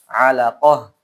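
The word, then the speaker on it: علقة: Setelah kita berhenti. Maka alaqatan dibaca apa? Alaqah.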